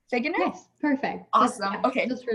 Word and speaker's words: Figgener: heard your last name was produced earlier uh pronounced earlier figuener fig enough perfect awesome okay just for life um dr